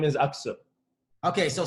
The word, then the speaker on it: Aksu: about introduce what's your last name pronounce it correctly my last name is up so okay so say your whole name coming i'li